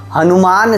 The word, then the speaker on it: हनुमान: हनुमान शब्द में, लंबे और छोटे दोनों प्रकार के 'u' को सही माना जाता है।